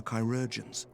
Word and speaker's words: chirurgeons: the battlefield and into the hands of our chirurgeons.